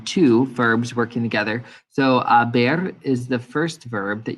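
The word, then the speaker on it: haber: tense so yo as the h is silent um you're just hearing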